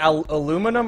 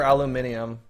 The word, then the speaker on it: aluminium: Do you say aluminum or aluminium?